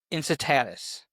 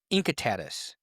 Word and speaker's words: Incitatus: was a horse named Incitatus. It can also be pronounced Incitatus. I came across both pronunciations in my research.